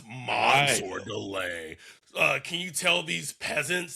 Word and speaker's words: Mansoor Delane: It was like, so I know, like, can you give the people like the correct pronunciation of your name? I know it's Mansoor Delane, but I've just been hearing like a lot of people saying it's Mansoor.